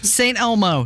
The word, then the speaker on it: St. Elmo: Thank you for saying it right, because I don't want the mean tweets to come in. I can't believe they put an S at the end of it.